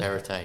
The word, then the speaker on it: Perrottet: I thought we were just going to, like Dominic Perrottet, pretty sure that's how you pronounce it. Perrottet.